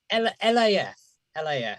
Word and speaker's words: LAF: How do you pronounce the current band that they're like? LAF.